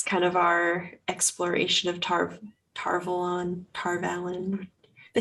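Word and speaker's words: Tar Valon: I think technically Robert Jordan has said Tarvalon. But the audiobooks say Tarvalon, so it Tarvalon, gets yeah, confusing.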